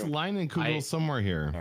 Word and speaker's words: Leinenkugel: I also think that this is the first time you've ever said Leinenkugel correctly the first time on this podcast.